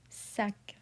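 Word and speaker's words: sac: C is in careful. So we pronounce it. Suck.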